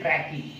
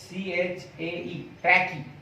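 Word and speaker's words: trachea: तक जो जाती है, ये ट्यूब को हम बोलते हैं ट्रैकी। देखो स्पेलिंग देखो, TRACHAE, ट्रैकी।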